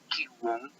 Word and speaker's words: Qigong: el desplazamiento, que tiene su nombre original de Qigong, se pronuncia Qigong, la palabra Qi significa energía, la palabra Gong significa la estrategia para mover la energía.